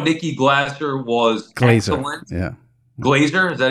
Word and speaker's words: Glaser: Glazer, is that how you say it?